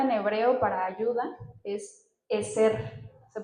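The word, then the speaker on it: עזר: La palabra en hebreo para ayuda es eser. Se pronuncia eser.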